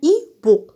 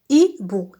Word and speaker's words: hibou: Au début de chaque mot, je vois la lettre H, mais je ne prononce pas. On dit que la lettre H ici est muette, d'accord? Avant le mot, on a le déterminant. Le hibou.